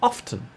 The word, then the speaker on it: often: neither another example is the t sound in often some people say often and some do not the final example occurs